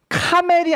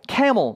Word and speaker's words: camel: And the camel driver라고 얘기가 나오는데, 자 이거 여러분 카멜이 아닙니다. camel이에요. 그렇죠?